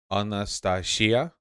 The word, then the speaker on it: Anastasia: Anastasia. People are saying second to last syllable.